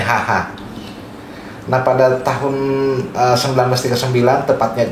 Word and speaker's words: Haga: Bacanya tulisannya sebenarnya Haga ya, tapi bacanya Haha.